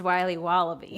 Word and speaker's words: Wiley Wallaby: It's pronounced Wiley Wallaby.